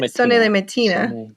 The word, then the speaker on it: Sonnez les matines: So I say Sonnez les matinées, the song, because it's from the song.